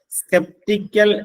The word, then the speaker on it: sceptical: സ്കെപ്റ്റിക്കൽ എന്നാണ് അതിന്റെ ഉച്ചാരണം.